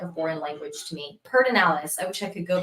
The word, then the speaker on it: Pedernales: Yes, I'm pronouncing Pedernales wrong. It's Pedernales.